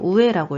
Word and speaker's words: 上: 명사를 그냥 붙일 때는 이걸 조로 읽으셔야 되고요. 여기 노를 넣으실 때는 이걸 우에라고 읽으셔야 됩니다.